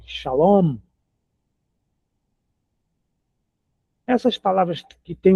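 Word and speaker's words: שלום: Shalom. A a sílaba final é a mais forte. Shalom.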